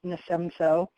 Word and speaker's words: NASEMSO: So I'm the executive director of the National Association of State Emergency Medical Services Officials, which is the acronym is pronounced NASEMSO.